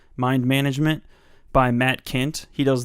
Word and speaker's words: Mind MGMT: the notable ones are mind MGMT which i think is pronounced management mind management by Matt Kent he